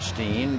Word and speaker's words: Augenstein: of mby and Buckner the augenstein or maybe it's Stein augen Stein they pronounce it Steen but the EI usually means Stein so Brian ready to work to